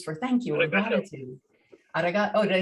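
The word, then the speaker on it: ありがとう: Arigato.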